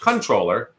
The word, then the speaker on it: comptroller: hence the name comptroller which I believe is actually pronounced controller but I don't care